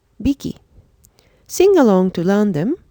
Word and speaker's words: 匹: This is pronounced as hiki, piki, biki.